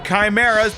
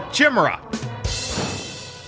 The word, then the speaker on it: chimera: me very bad naughty Chimera or as I pronounced it as a child a Chima cuz subtlety was lost on me